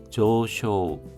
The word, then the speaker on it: 上昇: 레인크 레인소크노 조쇼 장승입니다. 둘 다 장음 발음입니다.